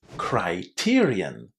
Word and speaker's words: criterion: Now, criteria is a plural noun, and in case you are wondering what the singular is, it's criterion, also pronounced with a nice I inside.